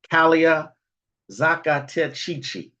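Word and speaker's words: Calea zacatechichi: Another one of my favorites is from Mexico called um, Calia Zacatechichi.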